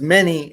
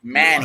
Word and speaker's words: Meny: Okay, we are live with Meny, and I've been spelling your last name wrong. No, actually, you're the first American to ever pronounce my name correctly as Meny and not Manny.